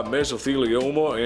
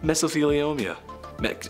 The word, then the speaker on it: mesothelioma: and he says have you been affected by mesothelioma and or because of exposure to asbestos then